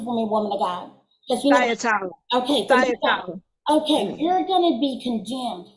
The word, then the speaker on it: Thyatira: I mean, to pronounce it for me, woman of God. Thyatira.